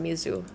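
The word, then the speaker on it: 水: sh but you this this word is pronounced Mizu in Japanese and it's the same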